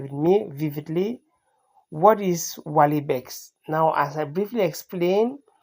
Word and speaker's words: Walibex: Inspired by the Walibex, of course, this is how it is actually pronounced, one of the rarest wild goats on the earth.